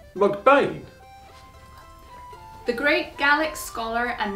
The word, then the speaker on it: MacBean: In Gaelic, it was Beathan, which as McBean, son of Bain, is pronounced with the H and the TH virtually silent, hence phonetically McBain.